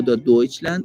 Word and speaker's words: Deutschland: بیتشون افها بیتشون خود آلمانیا آلمان رو مثل ما آلمان تلفظ میکنن یا ژرمنی نمیگن نمیگن نمیگن دوچه زاکس تو جرمنی ا دوچلند ا آلمان دوچلند دوچلند اوکی نه جرمنی میگن و نه آلمان میگن اینا میگن دوچلند دقیقا زبان آلمانی میشه